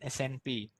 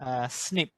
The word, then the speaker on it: SNP: pronounced uh it's not snp snp is pronounced snip okay snip snip snip